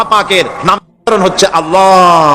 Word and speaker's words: আল্লাহ: আল্লাহ পাকের উচ্চারণটা হচ্ছে আল্লাহ পাকের নাম হচ্ছে আল্লাহ মুখটা একটু গোল হয়ে যাবে বলেন আল্লাহ আল্লাহ পৃথিবীতে